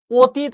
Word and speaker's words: অতীত: অতীত আমরা এটা লিখছি। কিন্তু যখন আমি উচ্চারণ করি ও সবসময় উচ্চারণ করি ও এর মতো।